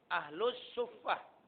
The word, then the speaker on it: Ahlus Suffah: Sofa, kalau sini Safah ya. Tapi kalau dalam bahasa Arab Ahlus Suffah.